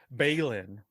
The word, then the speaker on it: Belen: so I know you know what Belen is beylin so for those of you listening or watching